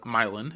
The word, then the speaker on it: Milan: a team out of milin Indiana um spelled as Milan like Italy but milin is how we pronounce it way different yep uh